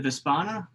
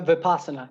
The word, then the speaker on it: vipassana: in your thoughts um was it the vaspana mispronounced that uh vipassana yeah awesome um does